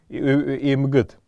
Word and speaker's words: эмгід: Обязательно будет ставиться сюда буква «д», хотя на звучании, при звучании она звучит как буква «т».